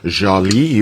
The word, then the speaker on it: Jalie: Jolie is spelled Jalie.